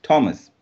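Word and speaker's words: Thomas: Particularly T എച്ച് ഒ എം എ എസ് ഇസ് തോമസ്.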